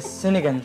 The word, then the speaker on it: sinigang: The sinigang sauce.